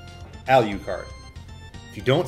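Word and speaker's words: Alucard: It's Dra-Q-la, spelled and pronounced backwards. Al-U-card. Al-U-card.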